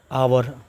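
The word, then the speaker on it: hour: क्योंकि इसका जो उच्चारण है, इसका जो प्रोनाउंसिएशन है, वो वोवेल साउंड है इसका।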